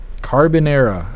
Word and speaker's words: carbonara: Carbonara.